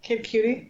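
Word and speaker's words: Kid Cudi: Kid Cutie.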